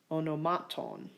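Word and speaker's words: ὀνομάτων: So the only one that applies to is onomaton. That's the only long ultima. That means the acute is on the penult, onomaton.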